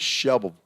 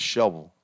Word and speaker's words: Shelbyville: Or as the locals say it, Shelbyville. You don't even hardly hear the "vull" at the end. It's Shelbyville.